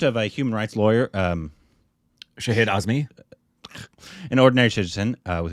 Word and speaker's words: Shahid: be Shahid. It's Shahid, like Shahid Kapoor. Okay. Just double check. The account of a human rights lawyer, Shahid Azmi.